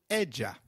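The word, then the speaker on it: ella: of a in Spanish Double L takes up the sound of Y in some areas and a soft J in others so you'll hear both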